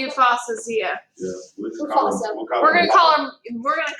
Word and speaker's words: Yousafzai: We're gonna say Yousafzai.